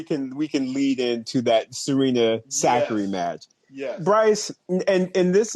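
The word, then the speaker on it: Sakkari: Now, see, I'm still used to calling her Sakari, but apparently her name is pronounced Zachary now.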